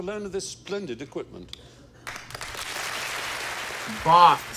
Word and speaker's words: Bath: Bath. See, that's how it's said. It's how it's pronounced correctly.